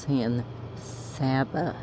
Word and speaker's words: San Saba: I was like, oh no, dude, it's pronounced San Saba, not Saba.